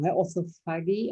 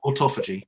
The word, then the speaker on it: autophagy: And is that because we are using this term now, orthophagy? I'm having trouble pronouncing it. Autophagy. Autophagy.